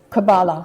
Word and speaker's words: Kabbalah: start off by telling me, how do I pronounce Kabbalah? Is it Kabbalah or Kabbalah? Kabbalah? No, Kabbalah. It is Kabbalah.